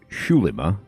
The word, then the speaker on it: Xulima: Number one, it's Shulimma, so I'm pronouncing it wrong.